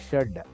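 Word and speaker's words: षड्: Now, instead of Shat for 6, it is read as Shad.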